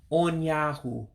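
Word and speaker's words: ụnyaahụ: to say yesterday now remember you got two you looking characters you with a dot underneath you diacritic is an o sound o sound and the regular u is a ooh sound so they're going to sound differently when i pronounce the two different u's here so it's uh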